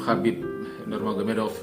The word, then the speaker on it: Khabib Nurmagomedov: Khabib Nurmagomedov, ya, nama ini adalah merupakan literalisasi dari ejaan bahasa Rusia yang kalau di dalam literalisasi bahasa Arab atau bahasa Indonesia sebenarnya dibaca Khabib Nur Muhammad.